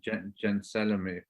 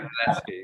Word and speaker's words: Gentileschi: The work's been buried, and there's just been that show of I can never pronounce her name, Gentileschi. Gentileschi, is it? Gentileschi, yeah.